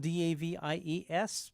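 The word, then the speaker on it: Davies: by the brothers Ray and Dave Davis spelled D- a v i s but pronounced Davis like ra fines is spelled r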